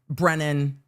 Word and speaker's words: Brennan: Brandon again on Sunday. Brandon, we ran through briefly again. And I'm just saying it's karma. This witness not pronouncing Brennan's last name properly is just karma for the